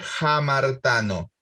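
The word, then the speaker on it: ἁμαρτάνω: Entonces, en vez de leer amartano, vamos a deletrear A-M-A-R-T-A-N-O, amartano, la aspiro a la alfa. Entonces se lee jamartano.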